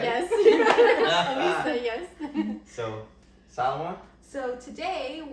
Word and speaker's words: Alica: Alica, yes.